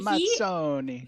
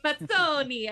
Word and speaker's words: Mazzoni: I'm the Community and Marketing Director for Catalyst, and I'm here with Mazzoni. I just learned how to say this correctly. Yep, sounds great. And Mazzoni. Mazzoni.